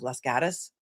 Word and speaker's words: Los Gatos: Am I getting better with my pronunciation of Lasatus? Look, it's it's it's spelled loss gateos, which means cats. The cats in Spanish, but if you're a local, I guess you don't pronounce it that way.